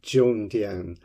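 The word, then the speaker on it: Zhongdian: d i a n with the Zed H pronounced a little bit more like a DJ um that's not a pop record player but a a letters DJ Jong Dian um I have to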